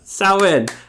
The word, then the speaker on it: Samhain: Samhain. Okay. And so tell us what Samhain is, and tell us how casting a circle, like what the importance of that is, and why we do that. Samhain, All Hallows Eve.